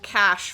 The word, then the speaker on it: cache: So in this case, Never heard it they said that pronounced way. it incorrectly because it should have been old cash from the revolution, unless they meant Yes.